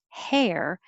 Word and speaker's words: hair: back making our noise and hair you're really making the the vowel e like head and yes hair so you make time to make the vowel e before you curl it back for the r hair and 32 thoughts the